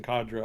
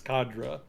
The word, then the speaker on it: cadre: i want cadres and i'm sorry if i'm mispronouncing cadre i've been pronouncing it cadre my whole life but then i found out recently that's not the correct pronunciation so i think it's khadra so i'm going to go with that for the moment uh